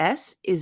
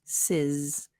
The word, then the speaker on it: is: Now this is interesting because even though is IS, the pronunciation of the S is a Z. So stocks ends in an S and is ends in a Z sound. So then we link it. Stocks is sizz, not sis, but sizz, like sizzle.